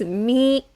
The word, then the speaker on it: 未: this one with me the pronunciation is me and the meaning is